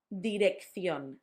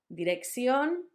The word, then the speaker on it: dirección: It's a double C. For us, it sounds like th. It will sound much easier once you see the words. Acción, dirección. I've told you before that third sound can be substituted for a s.